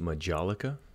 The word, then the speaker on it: majolica: right we'll grab another one here this one's pronounced Majolica I did have to look that up but